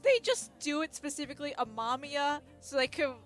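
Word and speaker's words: Amamiya: anime in two days the way they pronounce wren's last name in the anime in the dub like they did it a mamia and i'm just like it's ama mia and so now i'm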